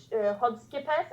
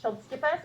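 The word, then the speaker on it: Chodský pes: It depends. I think the people from Czech Republic would pronounce it the best, but it's Hodskipes. I think for them we say Chodskipes, or you can just say Bohemian Shepherd.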